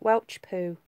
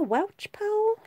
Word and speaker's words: Welshpool: am there each pool actually that's how southern Americans pronounce Welshpool they call it Welch poo Welch pull up in to Welch pool Shrewsbury Birmingham Gloucester well